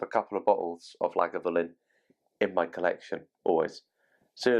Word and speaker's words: Lagavulin: out there who get things wrong it is pronounced like a villain I had somebody once say have you tried the guff Flynn so the whiskey itself as I said 16